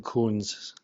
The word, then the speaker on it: Coons: a liquid Uprising so and you pronounced your last name Coons correct yeah I I really love